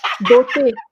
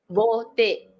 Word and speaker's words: Beauté: Beauté. Hmm? Beauté. Beauté. Bote.